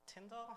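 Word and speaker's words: Tindle: It's got the tindal, am I pronouncing that right?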